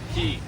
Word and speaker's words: Cay: Shroud Cay. Key. Ooh, Shroud Key. I guess it's Key. It's spelled like a K. It's very confusing.